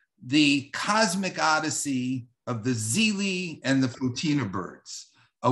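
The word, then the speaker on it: Xeelee: published was called the zeli flower now zeely noticed is spelled x-e-e-l-e-e and the zeli flower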